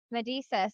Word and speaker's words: Medesis: yep so say your last name for me medisa you said it right okay I said it